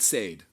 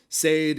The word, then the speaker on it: Said: Like Marquis de Sade, but Said. Said, like. All right, I'm just going to say that. Mispronounce that to get this right. Yeah, exactly. Like he said something to me.